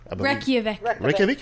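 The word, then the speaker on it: Reykjavík: So he traveled, and on his visit to Iceland well, I'm pronouncing this right, Reykjavik? Reykjavik.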